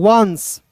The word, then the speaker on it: once: ठीक है, ध्यान से देखिए दोस्तों, यहाँ आप देखिए ONCE है तो इसे पढ़ेंगे दोस्तों वंस।